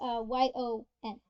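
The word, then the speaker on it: よん: I always hear Yon in anime instead of she. You mean Yon? It's Yon.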